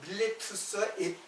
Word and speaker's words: 밀레투스: 그래서요 이제 그 본래 발음으로 하면 밀레투스와 에페소스예요.